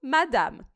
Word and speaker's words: madame: A letra E em final de palavra em francês, a gente não pronuncia.